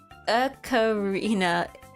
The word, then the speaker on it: ocarina: So ocarina is pronounced ocarina.